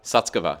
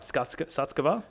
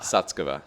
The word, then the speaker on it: Sutskever: Ilya Sutskever. Skutskova? Skuts. Skutskova. Sutskever.